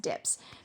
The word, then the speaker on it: DPS: The LEM dips is properly the LEM DPS, the descent propulsion system pronounced dips.